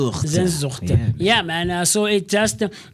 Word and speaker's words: Sehnsucht: And we know how to pronounce it the same way. So let's find out. But let's hear. Zandil. Sehnsucht. Sehnsucht. Sehnsucht.